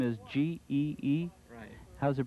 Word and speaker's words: Gee: your last name is g-e-e how's it pronounced gee is not in g but as in ghee right okay and howard